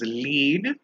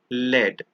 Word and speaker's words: lead: is the same but one is pronounced as lead and the other one is pronounced as lead lead means to influence